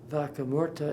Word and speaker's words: Vaca Muerta: it comes from chile vaca muerta is my poor way of pronouncing the spanish for dead cow it was first found